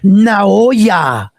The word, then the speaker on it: Naoya: He said it's Naoya. He put now and then Oya. His last name is Ain't No Way.